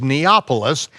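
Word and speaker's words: Nablus: matter of fact in novelis and why it's called novelist is because the the arabs can't uh pronounce a pea it's it was neapolis neopolis or new city or the ancient city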